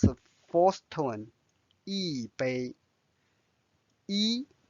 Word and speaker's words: 一: 一杯 E is a number. Normally it's pronounced as E first tone. However, when the next word is first tone, so it becomes the fourth tone. This is a rule, so you just need to remember.